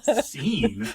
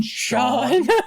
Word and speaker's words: Sean: Scene? What book were you reading? No, that one, Scene. It's like, do you mean Sean?